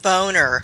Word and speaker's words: Boehner: For me, the least person I would want to meet would be Boehner. John Boehner from the Senate. I would not want to meet him because his name is pronounced Boner.